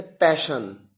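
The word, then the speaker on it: passion: और एग्जाम्पल्स आपके सामने देखिए, आपके सामने और एग्जाम्पल्स हैं जैसे पैशन। यहां पर एस के साथ एच नहीं आया, डबल एस आया है, लेकिन प्रोनाउंसिएशन में शलगम वाला श है।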